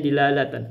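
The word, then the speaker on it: دلالة: Jadi kita bacanya dilalatan, benar.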